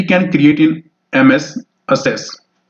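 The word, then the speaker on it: Access: अगला प्रश्न हमारा रहेगा what is the form that we can create in एमएस असेस। एक्सेस भी कई कहते हैं बट असेस यहाँ पे प्रोनाउंसिएशन इसकी रहती है।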